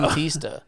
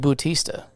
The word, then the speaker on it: Bautista: Bautista. Maybe, but he's not. Dave Bautista. I see what you're saying. Okay, you're not just mispronouncing his name. You're AU, making a former reference. No, it's AU. Bautista.